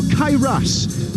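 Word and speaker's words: Cae Ras: There's a beautiful sky over the racecourse, or Kairas as we're being told now to pronounce it in its Welsh name.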